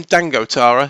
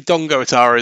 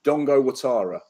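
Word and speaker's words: Dango Ouattara: Dongo is um because I always call him Dango Tara it's actually Dongo Tara is it I've been told it's Dongo so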